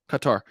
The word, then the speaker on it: Qatar: terraria dude that's awesome qatar uh cutter is it isn't it pronounced cutter i know we always say qatar in the united states i think it's cutter right qatar what can you